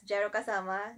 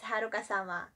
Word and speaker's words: jaroukasama: So I think a lot of you have been reading or pronouncing my online persona as jaroukasama. That's actually wrong. It's jaroukasama.